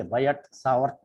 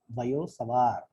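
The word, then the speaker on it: Biot–Savart: Okay, actually, though there are T's, say Biot Savart Law, people say T is silent in both. Okay, Biot Savart Law, because Biot Savart Law, that's how it should be pronounced.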